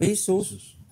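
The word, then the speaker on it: Iesous: Kalau orang berbahasa Inggris, baca I-E-S-O-U-S, bacanya gimana? Ya tetap Yesus.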